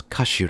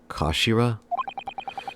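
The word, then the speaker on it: 頭: end of the hilt it's written as head in Japanese but it's pronounced as Kashira I believe Kashira so Mr oi's words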